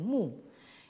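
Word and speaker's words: 木: quel végétal, une plante, qui se prononce en chinois moderne mu.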